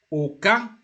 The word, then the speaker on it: aucun: Aucun, pronounce it aucun.